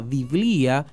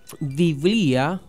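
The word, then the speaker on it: βιβλία: es la penúltima sílaba mientras que la palabra griega biblía que significa libros con el acento y la tilde en la i de bía rompe el dictongo y la convierte en trisílaba biblía como en filosofía pero continúa siendo grave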